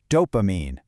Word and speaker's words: dopamine: It's just 3 syllables, and the emphasis is right there on the first one. So it's do, then pa, then mean. Dopamine.